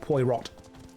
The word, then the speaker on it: Poirot: It's French, like Inspector Poirot, which is actually pronounced Poirot.